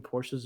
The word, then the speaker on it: Porsche: i don't know yeah i don't care what you say it's a two-syllable word in my opinion porsches are the benchmark to